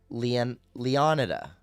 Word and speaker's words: Leonida: Comparing to the way we pronounce Florida, Leonida could be pronounced either way. See, that's what I'm saying. The way we have been pronouncing the English way and the other the Spanish way.